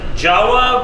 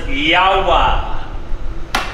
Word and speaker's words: Jawa: This is our 1964, you would think it's pronounced Jawa, but I've been told it's Yawa.